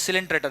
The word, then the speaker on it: coelenterata: It's pronounced as coelenterata, remember now only.